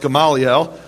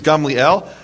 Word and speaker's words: Gamliel: A precedent which Rabban Gamliel, you probably thought it was pronounced Gamaliel. The correct Hebrew pronunciation is Gamliel.